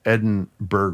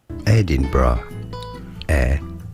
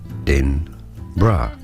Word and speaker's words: Edinburgh: So, an anonymous texter said, "I pronounced Edenberg wrong."